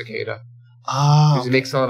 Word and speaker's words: Cillizza: person and he said he would prefer to use his pronunciation for his name which is uh just Chris Cada oh he makes a